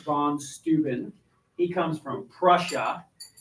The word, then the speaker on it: Prussia: steuben he comes from prussia and i know that rhymes with what you would say is russia that's not what prussia